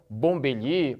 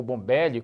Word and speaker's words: Bombelli: esse matemático aqui Rafael Rafael bombelie ou bombelli como você quiser pronunciar tentou encontrar várias